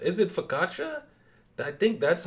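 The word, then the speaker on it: focaccia: Fakasha. Is it fakatcha? I think that's how you say it. Yeah, I I pronounced it wrong. It's fakkatcha.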